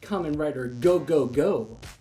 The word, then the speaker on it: Kamen Rider 5gou: Initially, with the temporary title of Kamen Rider Go-Go, they added further to the name with an additional Go, so it would be pronounced Kamen Rider Go-Go-Go. Another name was Kamen Rider